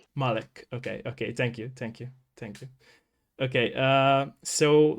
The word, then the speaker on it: Mullich: All right, my name is pronounced Mullich. Mullich.